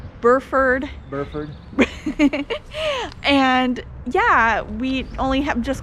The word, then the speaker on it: Burford: now we are in buford wait is that how you say it burford yeah we only have